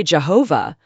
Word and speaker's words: Yahweh: We're not exactly sure how to pronounce God's name. People used to say Jehovah, but that's a mix of the Hebrew letters for God's name and the vowels from Adoni, which means Lord. Most scholars think Yahweh is likely the closest pronunciation. That's what we'll use here. But if someone says Jehovah, that's okay, too.